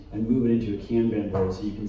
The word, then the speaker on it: Kanban: It's Japanese, yeah, and it's pronounced Kanban. Oh, okay. Oh, yeah, here we go. It came out It's Japanese and it's pronounced Kanban.